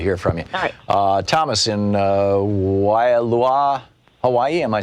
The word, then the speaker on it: Waialua: can go and uh Wailua is how you say it I kind of run it fast anyway I'm the gentleman